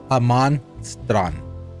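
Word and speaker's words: Jamastran: no Jesus is Jesus everything with J is is pronounced with the H in Spanish so Haman is where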